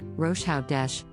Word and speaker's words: Rosh Hodesh: word is rash hodesh this is a Hebrew word pronounced rosha Dash which literally means head